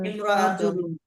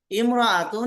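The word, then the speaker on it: امرأة: ইমরাতুন শব্দের আগে অন্য শব্দ হলে আলিফটি শুধু লেখায় আসে। উচ্চারণে আসে না।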